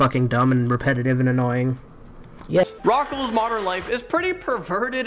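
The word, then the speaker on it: Rocko's: and repetitive and annoying rocco's modern life is pretty perverted and this takes us to number four as rocco's modern life is perverted but it's not rockl's modern life it's rocco's i mean maybe i'm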